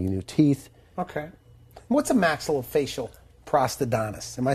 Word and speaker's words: maxillofacial prosthodontist: What's a maxillofacial prosthodontist?